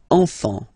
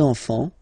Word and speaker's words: enfant: Don't pronounce the T, you don't pronounce the S.